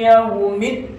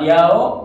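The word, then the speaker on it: يوم: Nah, yaumnya itu harus jelas pakai harful lain. Yaum ya, jadi harus jelas kedengaran u-nya gitu ya. Yau, jangan yao begitu. Karena banyak juga yang baca Maliki yaumiddin yau gitu ya. Padahal itu kurang sempurna, bukan yau, tapi yau pakai u gitu ya.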